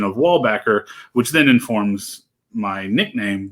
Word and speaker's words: Weilbaecher: It's like Weilbaecher, like this, like that excess Germany-ness that you need to have in there.